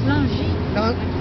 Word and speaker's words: Langis: And L-A-N-G-I-S. Oh, just one S, Langis. He's pronounced Langis.